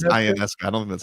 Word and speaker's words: Ionescu: Ionescu? Ionescus? I don't think it's Ionescu.